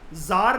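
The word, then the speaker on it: tsar: एक एंपरर था यह भी बहुत तगड़ा था जर निकोलस की स्पेलिंग होती है लेकिन टी इसके अंदर साइलेंट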